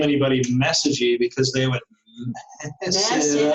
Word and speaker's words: Messegee: For everybody who doesn't know, that is my maiden name, Messegee. Do you do it this way? Messegee? Yes.